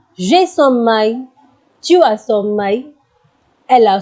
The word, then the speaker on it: sommeil: L is silent in this. You can never say avoir sommeil. L will not be pronounced. You will say avoir sommeil, which means to be sleepy.